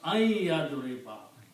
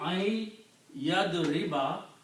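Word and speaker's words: أَن يَضْرِبَ: The other thing is that when we pronounce this, we don't pronounce noon because there is a ya, so we pronounce ayyadriba.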